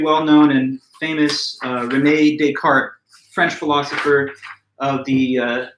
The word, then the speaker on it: Descartes: so i mean um you would want to say with a silent or soft s it's not descartes you know you're kind